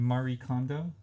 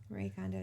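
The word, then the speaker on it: Marie Kondo: But I feel like when Netflix had I'm gonna mispronounce the name Mari Condo. Marie Condo.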